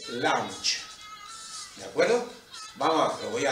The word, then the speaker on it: lunge: o un paso lateral se escribe lunge y se dice lancha de acuerdo que voy